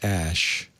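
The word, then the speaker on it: Æ: said it's the unknown X AE is pronounced ash so obviously the kid's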